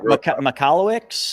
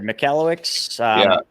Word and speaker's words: Michalowicz: How do you pronounce his last name? Mike Michalowicz. I got it right here. Michalowicz.